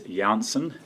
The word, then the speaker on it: Janssen: meantime likewise the and i understand the correct pronunciation is janssen vaccine one of the uh for we have